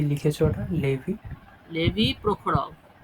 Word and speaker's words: Prokhorov: Levy প্রখরভ আচ্ছা। বা প্রহরভ, কেইচটা silent হবে।